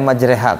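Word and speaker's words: مجريها: Kayak majreha kemarin tuh ya. Bismillahi majreha wa mursaha. Kenapa majreha? Kaidahnya kan kalau ro dikasih fathah, ada alifnya, bacanya ro lah. Kenapa jadi majre? Alasannya apa? Nabinya begitu.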